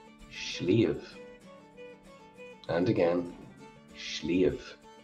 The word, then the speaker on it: sliabh: I'm from Munster, and that's Munster pronunciation of the word. That's fine in Connacht too, but in Ulster, my Ulster pronunciation is patchy enough. They would say it's something like shliau. Shliau. And again, shliau.